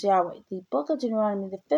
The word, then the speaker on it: Yahweh: YHWH is soon to be pronounced Yahweh.